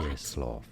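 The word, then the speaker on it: Czesław: In Polish, it is said as Czeslaw. That's what I thought. Czeslaw. Cheslaw.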